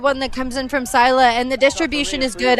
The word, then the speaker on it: Scylla: I'm actually being told I'm pronouncing the Milwaukee side wrong. Scylla seems to be the correct pronunciation.